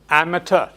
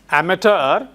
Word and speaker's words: amateur: But it's not like immature. Immature is the opposite of mature. But this is amateur. Yes. Amateur.